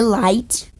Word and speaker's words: Light: dos próprios autores que na verdade se lê light light se light e que o horário oito deles é porque eles têm dificuldade para pronunciar raito light recebeu o caderno do